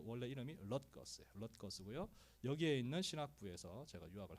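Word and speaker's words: Rutgers: 예, 저 발음이 어려워요. 럿걸스 이렇게 읽는데 뉴저지에 있는 주립대학입니다. 우리는 뉴저지 주립대학으로 알고 있는데 그 원래 이름이 럿거스고요.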